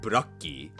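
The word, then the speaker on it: ブラッキー: But, if you actually hear like characters in the anime say Umbreon's Japanese name, they say it like Burakki. So, you you can much more clearly hear the luck in it.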